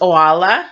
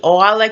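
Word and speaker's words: Oalla: to talk to you about of course there's Ola which is the other Atlantean one of the fabulous for the Astra diamond so Lola and her last name is Kay Getty K Gary Ola Kae Gary now the word itself Astra diamond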